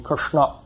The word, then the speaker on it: Krishna: For that matter, we should say Krishna, and most of us don't pronounce Krishna properly. It should be Krishna.